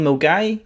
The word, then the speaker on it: Milngavie: a we town called mgy if you're not from Glasgow then the way it's spell it's completely different to the way you see it mg is north of